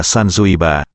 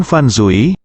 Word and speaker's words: Sanzui: pelayan di hotel dan nama saya sanzuiba bukan fansui ini Sansui kata sanzui dia sepertinya sangat memperhatikan